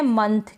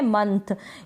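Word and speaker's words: month: ये है मंथ। क्या है? मंथ। ये जो ओ है इस ओ को अ के रूप में हम प्रोनाउंस कर रहे हैं। मोथ नहीं पढ़ रहे हैं।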